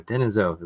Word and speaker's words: Denisovan: Denisovan.